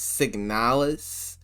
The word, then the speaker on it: Signalis: talk about signalus now I heard a lot of people pronouncing this game's name as signalus I don't know if those people just have accents of this the way you're supposed to pronounce it but I'm just gonna say sick nowless because that's just the way it naturally it comes to me oh yeah